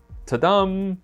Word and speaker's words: Tudum: And Netflix has their Tudum event scheduled this weekend. Yes, you have to say it like that. Tudum.